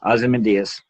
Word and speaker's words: Ozymandias: How do you say Ozymandias? That's right. Okay, Ozymandias. I always butchered that.